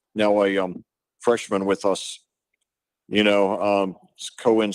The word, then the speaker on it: Coen: Cohen spelled like the Cohen brothers, Coen.